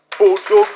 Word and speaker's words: Bodogu: So I don't want us to start pronouncing it as an English acronym. It is African, it is Nigeria, it is Bodogu.